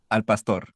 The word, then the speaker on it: al pastor: I'm like, it's not pastor. Okay. Pasta. How do you pronounce it then? It's pasta. Al pastor.